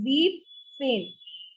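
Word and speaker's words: siebzehn: will only take z here not zebel so zeep change deep scene again i'm just coloring this part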